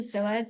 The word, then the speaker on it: psoas: just gonna say it's a silent P, by the way. Yes. SOAS, there's a PSOAS. P in it? Yeah, there's a Yeah, P it in it. starts Yeah. with a P.